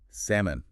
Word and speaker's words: salmon: Salmon. Ah, the fish. Big one here. That L is totally silent. No sound at all.